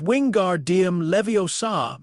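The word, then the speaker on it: Wingardium Leviosa: Professor Flitwick explained levitation properly, correcting Harry's pronunciation and wand movement in the first lesson when Hermione said, "It's wing guardium leviosa. Make the gar nice and long."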